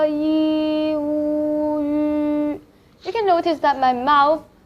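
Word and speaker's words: ü: The next one, yu. Yu. So you can start from saying yi first. Yi. We've just learned this syllable before. Yi. And then just trying to round your lip.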